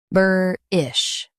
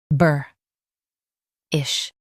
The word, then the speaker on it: boorish: US says burr, UK says boo.